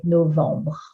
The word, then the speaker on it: novembre: When B or E at the last three letters, make sure to group the B with the previous syllable. It makes it easier to say novembre.